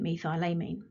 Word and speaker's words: methylamine: suffix this is called methyl amine and it is all one word now some people might pronounce it me thylamine but methylamine is absolutely fine and there are other